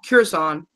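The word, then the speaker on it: Kuzon: It's Curzon.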